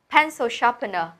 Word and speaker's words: pencil sharpener: Vậy mình có cái từ là pencil sharpener. Pencil sharpener. Chú ý đọc nhé. Pencil trọng âm đầu tiên này. Sharpener cũng đầu tiên luôn.